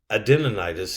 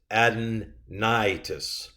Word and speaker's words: adenitis: itis means inflammation of but it's not adeninitis it's adenitis by all the capitals worthy